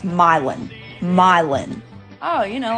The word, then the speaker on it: Milan: are just pronounced wrong you think this would be Milan like you know the city in Italy no it's milin milin oh you know